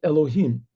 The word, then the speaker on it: Elohim: punctuated like this you don't pronounce it you pronounce it elohim so it says elohim these are both names